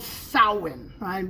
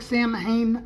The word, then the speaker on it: Samhain: We're also going to talk about the evil pagan holiday called Samhain. It looks like Samhain, but it's actually pronounced Samhain.